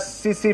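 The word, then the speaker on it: tsetse: फ्लाई is known as सीसी फ्लाई और टिट्सी फ्लाई। सीसी फ्लाई या टिट्सी फ्लाई भी बोलते हैं इसको, ध्यान से देखिएगा, या टी साइलेंट होगा या एस साइलेंट होगा, टिट्सी फ्लाई और सीसी फ्लाई, और इसको ट्रांसमिट करता है कौन?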